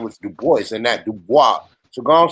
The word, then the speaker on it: Du Bois: he pronounced his name now we can pronounce it in French if you want to but that's how he pronounced his name he said his name was DuBois and that Dubois so